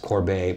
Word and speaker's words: Corbet: in preparation for this because I knew that Corbet by the way I've been talking about this